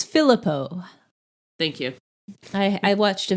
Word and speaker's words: Philippou: It's Filippo. Thank you. I watched a video and they pronounced it, thank God.